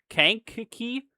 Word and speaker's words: Kankakee: It's pronounced Kankakee.